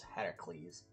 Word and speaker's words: Heracles: and the pillars of Hercules or Heracles. I think that's how they actually say it is. Heracles. My uh I have the old uh the old American pronunciation guide on that.